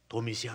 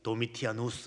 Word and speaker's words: 도미시안: 도미시안 황제. 일반 책에는 도미티아누스 이렇게. 도미시안 황제나 도미티아누스나 요거는 어느 나라 발음으로 하느냐에 따라 다를 뿐.